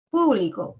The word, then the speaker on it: público: ayudar a distinguir significados público por ejemplo el acento en la primera sílaba o en la antepenúltima significa que pertenece a varias personas no que puede ser